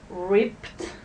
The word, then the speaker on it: ripped: voice like here rip the rule is that the Ed is pronounced with the T so here we have some examples ripped so everybody say ripped